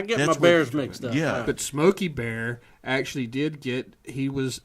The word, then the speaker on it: Smokey Bear: was from New Mexico and actually we did pronounce his name it's Smokey Bear not Smokey the Bear Smokey Bear its you waited says Smokey Bear